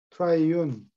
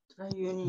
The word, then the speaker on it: triune: 여기 삼자일치 통치자 삼자일치는 트라이윤 그는 삼자일치라는 뜻이에요. 삼자가 일체가 아니고 일치하는 거. 일체는 나란히 트라이윤이 어, 트라이윤 처음 보는 단어.